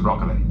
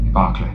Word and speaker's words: Barclay: Broccoli. Barclay. If you will excuse me. Metathesis is one of the most common of pronunciation errors, sir. A reversal of vowel and consonant. Bark to Brock.